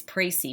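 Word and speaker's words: précis: and reading texts so the first word is pray see what word pray see right here it'll help you with the pronunciation so pray see is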